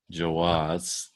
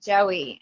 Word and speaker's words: Joie: Jouer. That's a mouthful. I used to pronounce it Joey, and then when I found out it's Jouer, I was so embarrassed.